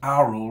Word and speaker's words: aural: is Aral diversity well you'll notice that I pronounce the word ARL rather than oral this is to avoid